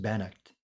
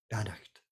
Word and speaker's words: Beannacht: Pronounced Bannocked. Bannocked.